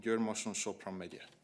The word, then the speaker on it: Győr-Moson-Sopron-megye: Yes, that's a county in Hungary called Győr-Moson-Sopron-megye.